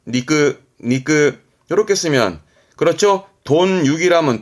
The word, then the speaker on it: 肉: 고기 육자 음이 한자는 많이 봤을 거요 고기 발음은 니끄 니끄 렇게 쓰면 그렇죠 돈이라면 돼지 고이지 따니